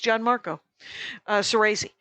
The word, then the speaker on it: Gianmarco Soresi: It's not Gian. I want to Italian it. It's Gianmarco Soresi.